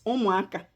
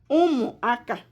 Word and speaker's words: ụmụaka: The first one is ụmụaka. The second one is mamịrị. Ụmụaka, children. Ụmụaka.